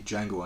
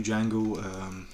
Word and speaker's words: Django: spell it and then Jamie Foxx spells the name and he says the D is silent and I'm Frank O'Gara